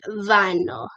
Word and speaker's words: Vino: I know that his name sounds like Vano, but I looked it up and it's pronounced Vino.